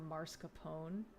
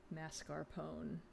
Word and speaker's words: mascarpone: weather and said no I asked for marscapone mascarpone oh I get it it took me a second I guess you'd have to pronounce it mascarpone I walked on the